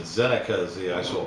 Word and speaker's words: Zinneke: found it in dictionary and uh they said zenica is the actual pronunciation of the word but uh yeah it's